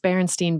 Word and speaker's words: Berenstain: I think it is still pronounced Berenstain Bears. It's just spelled S-T-A-I-N instead of S-T-I-E-N or I-E-I.